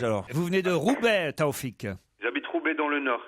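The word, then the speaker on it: Tawfik: Kim Lee qui est à Paris et Taoufik, comment je prononce?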